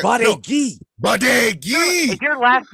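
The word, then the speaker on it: Badgui: Baudegi. That's my name. Baudegi. How do you spell that? B-A-D-G-U-I. Meaning bad guy? No. Bad guy? No. Bad It's guy. No. Badegi. Baudegi.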